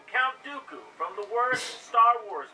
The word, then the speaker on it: Dooku: the white and the rhymes with poopoo count dooku from the word star